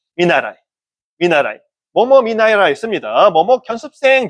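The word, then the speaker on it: 見習い: 견습, 한자 견습이라는데 그냥 일본은 켄슈, 습자도 슈라고 읽는 거니까 그렇게 안 읽고 일본에서는 특별히 읽습니다. 미르, 보다는 동사하고 나라오, 배우다는 동사를 뜻으로 써가지고 읽습니다. 미나라이.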